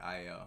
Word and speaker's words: Ayo: Like it may look like Ayo, but just the A, it has the I sound, so it's like Io.